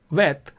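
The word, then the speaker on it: ב: So this would be Bet, and without a dot is pronounced Vet.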